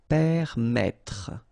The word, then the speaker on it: permettre: will pronounce it like okay, so permettre, final not really pronounced.